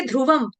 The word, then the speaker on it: ध्रुवं: much much ल ध्रुवं ल के ऊपर जो अनुस्वार है उसका उच्चारण होगा अनुनासिक हलंत न की तरह क्यों होगा क्योंकि आगे आपका आ रहा है वर्ण ध त थ द ध न त थ द ध न इसीलिए यहां पर बिंदी का उच्चारण हम कर रहे हैं हलंत न के साथ क्लियर रूल समझ में